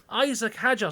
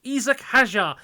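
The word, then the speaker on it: Isack Hadjar: Isaac Hajar, sorry, Isak Hajar, I'm trying to pronounce it correctly, had a fantastic lap which saw him go fifth on the mediums.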